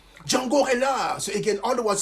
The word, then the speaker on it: Reinhardt: Now let's go back to this young man, Django Reinhardt. And I'm saying that with a French accent because, of course, it was actually Belgian French. Django Reinhardt.